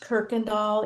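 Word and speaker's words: Kirkendall: doll Kirk and doll it's pronounced Kirk and doll even though it's got the weird why spelling like it doesn't have an r in it but very good okay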